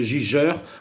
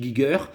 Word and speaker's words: Giger: Voilà, moi je le prononce Giger, hein. Il y en a qui disent Giger, moi je dis Giger.